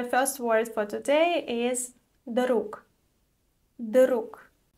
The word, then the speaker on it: друг: So, the first word for today is друг. Друг. The voiced sound at the end of the word is pronounced as voiceless k.